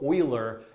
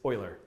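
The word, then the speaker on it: Euler: way using something called Oiler integration often mispronounced as uler but it's Oiler so I'm going to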